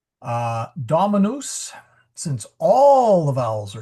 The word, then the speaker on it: dominus: And so you're going to stress the dominus and it does not rhyme with news. Try not to say uh dominus or moose, but rather it rhymes with mus dominus or sorry dominus. Um it's a short u and you'll see a